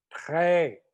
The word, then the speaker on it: très: Le T est prononcé devant et le R derrière.